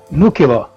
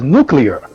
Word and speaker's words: nuclear: of the Union but he used the word nucular now the words actually Eve II he wanted to pronounce was nuclear but is the new killer you could bring